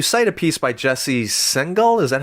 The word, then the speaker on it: Singal: You cite a piece by Jesse Singal. Is that how you say his name? Singal, yes.